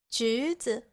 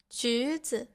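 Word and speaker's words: 橘子: 橘子, 橘子. Here, the first character has the second tone.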